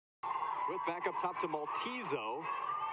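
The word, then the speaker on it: Juez: With a 6'2" sophomore from Mallorca, Spain. You would never know how to pronounce her name if you looked at how it's spelled.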